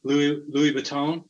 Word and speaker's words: Louis Vuitton: So yeah, I got about 20 minutes to bid on these awesome items, Colorado, Wisconsin, and the Louis Vuitton.